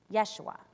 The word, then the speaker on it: Yeshua: The name Jesus in Hebrew is almost the exact same pronunciation, Yeshua, and it too means to rescue or deliver.